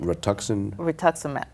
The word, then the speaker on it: rituximab: And then what happened that you finally found the, how do you pronounce it? Rituximab.